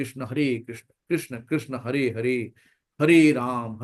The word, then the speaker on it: कृष्ण: तो हमें ऐसे शुद्ध उच्चारण बोलना है। हरे कृष्णा हरे कृष्णा कृष्णा कृष्णा हरे हरे हरे राम हरे राम राम राम हरे हरे कृष्णा हरे कृष्णा कृष्णा कृष्णा हरे ये नहीं करना है।